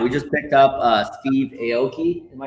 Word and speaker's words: Aoki: We just picked up Steve Aoki. Am I saying it right? Wow. Yeah, Steve Aoki.